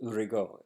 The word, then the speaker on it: Rigaud: His name Rigo, Hyacinth is his first name, which is not how you would pronounce it in French. Uh, but Rigaud, Rigaud.